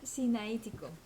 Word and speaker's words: Sinaítico: Códice sinaítico o sinaítico. Sinaítico. Sinaítico, Tiene acento en del la Sinaí.